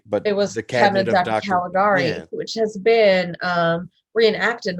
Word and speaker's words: Caligari: gonna check out uh the cabinet of dr caligari yeah you said it right yeah it's uh